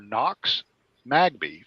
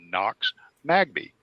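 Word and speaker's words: Nox Magbee: in the words were knox magby phonetically spelled n-o-x m-a-g-b-e-e knox magby and he said and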